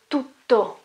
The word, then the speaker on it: tutto: You have T at the very beginning and then a double T. Okay? Tutto. Tutto. So you may notice that I stay there for a moment with my voice.